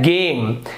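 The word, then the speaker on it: game: देखिए ये हो रहा है गेम, यहां पे जे उच्चारण नहीं हो रहा, यहां पे उच्चारण हो रहा है गेम।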